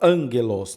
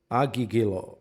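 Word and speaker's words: ἄγγελος: aí do dessa palavra, o primeiro gama ele vai como um N, né? Porque a gente fala angelos, não aguigo.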